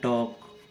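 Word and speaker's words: talk: टॉक, इसमें भी ए के बाद में एल आ रहा है हमारा।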